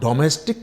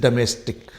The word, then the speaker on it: domestic: यहां पर this is नॉट डोमेस्टिक, this is डोमेस्टिक। इसका प्रोनाउंसिएशन यहाँ हल्का ए है, जिसे इंटरनेशनल अल्फाबेट फोनेटिक